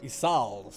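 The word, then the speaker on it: Ysayle: territory would you consent to Lady isel's request isal okay that's how that's pronounced does thou imagine thyself equal to the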